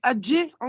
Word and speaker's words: ج: Il ne faut pas appuyer. C'est adje. Juste rebondir et revenir.